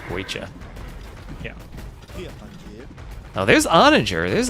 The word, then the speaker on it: Guecha: Well, it's in the language of the Muisca. Guecha. Guecha? Okay. All right. Learning. That's pronounceable, Guecha.